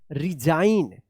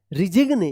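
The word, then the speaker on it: resign: रिजाइन। रिजिगने या रिसाइन मत पढ़िएगा।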